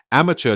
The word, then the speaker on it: amateur: Amateur does not start with a. It starts with the sound e in American English.